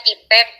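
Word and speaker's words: TPACK: dengan tpac TK ee atau tpek ya kalau kita mah bacanya tpek atau bahasa Inggrisnya tpac Bapak Ibu silakan Tentukan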